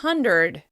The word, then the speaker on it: hundred: Some American dialects pronounce "pretty" as "purty," and "hundred" as "hunderd."